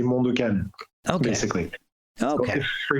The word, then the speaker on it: Mondo Cane: Okay, and I've seen it, but I've been pronouncing it incorrectly the entire time. Well, it's Mondo Cane, but okay. For example, in French, when somebody asks me what's the name of my project, I say Mondo Cane, basically.